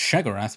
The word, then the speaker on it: Sheogorath: a way of representing Shaggorath, who at this time was also often pronounced shearath by the way.